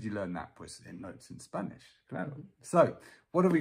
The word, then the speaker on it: Notes in Spanish: Yeah, we pronounce it in a very Spanish way. Notes in Spanish.